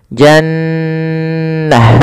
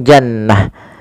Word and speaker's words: Jannah: namakan dengan bacaan gunah cara membacanya adalah suara nunnya ditahan dulu nnya Jannah tidak langsung Jannah Kemudian pada lafal ta